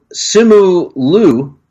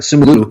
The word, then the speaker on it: Simu Liu: So the Legend of the Ten Rings and Simu Liu. I think I'm pronouncing that right. Simu Liu.